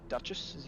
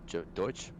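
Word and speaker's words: Deutsche: Duchess. How do you say German? Deutsch. Deutsch. Sorry, Deutsch Deutsch.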